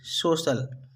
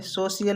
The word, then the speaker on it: social: जैसे SOCIAL, सोशल। क्या पढ़ेंगे? सोशल। इसे हमें सोशियल नहीं पढ़ना, हमें पढ़ना है सोशल।